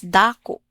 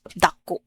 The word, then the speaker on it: dako: So, in Waray-Waray, it's dako. Dako. Whereas in Cebuano, it's dako. Dako. Same goes, it has glottal stop at the end.